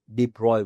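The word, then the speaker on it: de Broglie: नाम है डिब्रॉय वेव लिखने में डी ब्रॉग है प्रोनाउंस करने में इट इज डिब्रॉय wave what is continue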